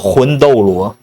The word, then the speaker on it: 魂斗罗: How would you pronounce it? The Chinese. Called 魂斗罗.